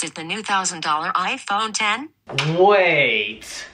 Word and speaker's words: iPhone X: iphone 10 i prefer iphone x instead well apple says it's pronounced iphone 10.